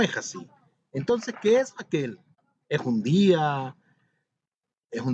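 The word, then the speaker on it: Hakhel: Pareciera ser que dijera aquel lugar, pero es aquel.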